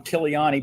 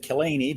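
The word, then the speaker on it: Killiany: stopped and he said he said my name wrong killiani but he said killany because that's what most people say and he said wait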